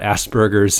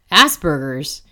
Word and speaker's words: Asperger's: I can't seem to say the word without it sounding like ass burgers like Asperger's diem and I know